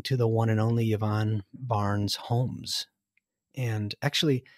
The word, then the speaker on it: Yvonne: we are talking to the one and only yvonne barnes homes and actually how do you how do you accurately say your first name yvonne yvonne yeah okay because i speak i speak spanish